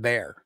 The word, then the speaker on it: Bexar: think you guys have bear we do not have Bears even though you're pronounced Bear County yeah um how about